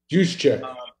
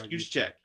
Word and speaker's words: Juszczyk: San Francisco had in Kyle, I can't even pronounce his name. Juszczyk. Yes, Juszczyk.